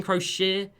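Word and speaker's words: Croshere: Austin Crochet. Yeah, Austin Crochet, that is how you pronounce his name.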